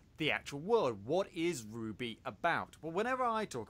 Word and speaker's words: RWBY: named after even though it's spelled rwb why is Ruby Rose milk what's Ruby